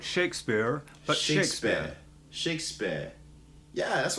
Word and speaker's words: Shakespeare: We just don't say the R sound.